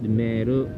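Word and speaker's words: メール: or email me me notice that I pronounced meru I prolong the E mer and the Kake Ki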